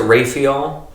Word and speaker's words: Raphael: raphael probably the least some pronounce it rafeeol i have always pronounced the little pronouncer oh yeah yeah raphael but that's like the